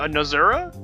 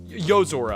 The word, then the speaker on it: Yozora: How do you spell that name? What? No, Nozura? Yozora.